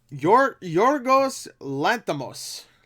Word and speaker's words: Yorgos Lanthimos: Audience reviews have been a little mixed, which is that's to be expected from Yorgos Lanthimos. What's who's the director? Yorgos Lanthimos. I think that's how you pronounce his name right there.